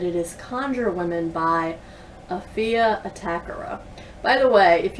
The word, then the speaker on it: Afia: So it is Afia, as in rhymes with Sophia, Atakora.